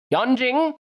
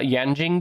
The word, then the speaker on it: Yanjing: you number six it's yanjing with 1.9 global market share number six yan jing it's spelled y-a-n-j-i-n-g just like it sounds yeah just like it